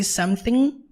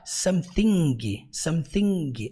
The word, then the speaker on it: something: E outra coisa importante para ressaltar é que toda e qualquer palavra no inglês que termina com ing, você nunca pronuncia a letra G. Então você não fala something. Não, você fala como? Something.